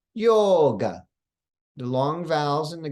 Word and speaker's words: yoga: to the difference or in the word yoga the O is long we don't say it like westerns westerners say it yoga but we say yoga the long vowels in